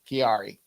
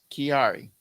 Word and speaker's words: Kiari: Kiari. Like Ferrari, but with a K.